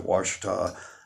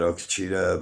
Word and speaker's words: Ouachita: When I first got up here to the Ozarks, I was at Ouachita Lake. You spell that Okachita, but the Indians say Ouachita.